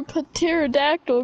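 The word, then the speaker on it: pterodactyl: why can't you hear Patera dactyl going to the bathroom because the P is silent and I remember your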